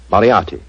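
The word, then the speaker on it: Moriarty: Moriati.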